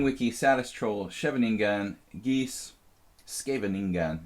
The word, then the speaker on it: Scheveningen: It's King Wiki, Satis Troll, Scheveningen, Geese, Scheveningen, if we want to say it correctly.